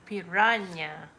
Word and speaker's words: piranha: Because Okay, piranha. yeah, the H at the end is a Y.